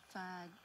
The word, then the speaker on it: Fight: Fight. Fight. Fight. Fight. Fight. Sounds like a f Y T E. You got a G right there. But it's a silent g again.